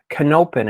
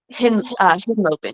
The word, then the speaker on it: Henlopen: Okay, Cape Canopen. Is that how you pronounce it? Henlopen with a H.